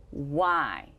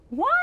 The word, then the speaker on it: why: as we would expect the tricky letter here is y and is pronounced i not the long e sound that we would expect